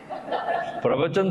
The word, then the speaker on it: pravachan: The new medicine is called pravachan. You know that? So I looked at it, wow, that is nice. Pravachan suno bhai.